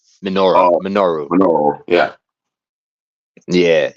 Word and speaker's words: Minoru: Minoru.